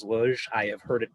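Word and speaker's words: Łódź: it my best shot i lod z is luge i have heard it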